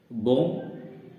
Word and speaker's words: bomb: इसी प्रकार बॉम्ब, BOMB, ये बॉम्ब होता है बॉम्ब, लेकिन लिखा जाता है बॉम्ब और बोला भी बॉम्ब ही जाता है। इसमें लास्ट वाला बी वो साइलेंट लेटर्स होता है।